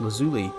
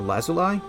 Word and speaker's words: lazuli: archway is carved from lapis lazuli or lazuli i've heard it pronounced both ways into cloud shapes one